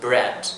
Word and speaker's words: bread: same Casas green bread we have EA EA they are also considered to be one sound so it's not separately pronounced so it's just bread not brie yet or bread or somewhere